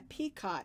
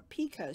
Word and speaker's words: picot: we're going to do what's called a peacott or a picot stitch depending on who you talk to it depends on how you pronounce it but it makes a